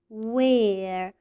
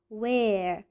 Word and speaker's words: where: example the word where where where do you see the letters w and h at the beginning of the word where where we pronounce the letter w but we don't pronounce the letter h who can tell me